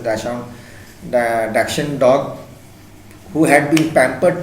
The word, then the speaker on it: Dachshund: So we are at this at this story that Tricky was a Dachshund, it's actually pronounced as Dachshund dog who had been pampered to a such extent that overfeeding, luxuries, facilities had become the cause of his illness.